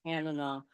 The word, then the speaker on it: Tanana: You listen to a book and they are talking about Tanana, but it rhymes with banana.